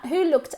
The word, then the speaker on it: looked: So, who looked after your cats when you went on holidays last year? My mum looked after. Listen to the pronunciation. Looked. Como si hubiera una K y después una T.